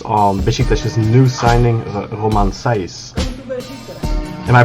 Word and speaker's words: Romain Saïss: of your insights on bishi dash's new signing roman seize am i pronouncing that correctly thanks for having me yeah